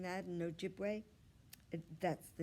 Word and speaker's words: Ojibwe: my native american tribe you say it like this ojibwe see ojibwe i'm learning my ojibwe